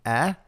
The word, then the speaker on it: è: Make sure that you can differentiate between, in terms of the pronunciation, between è, like egg, which is it is he is, she is, versus e, which means and, which has no accent on it. So e.